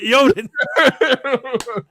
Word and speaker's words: Odin: I'm like, it's pronounced Yodin. And if you really are, He didn't know that? A black guy is teaching him how to pronounce Yodin.